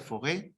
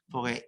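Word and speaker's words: Faure: El primero que desarrolla esa noción de aprendizaje a lo largo de la vida fue el señor, supongo que se pronuncia Fauré, ¿no?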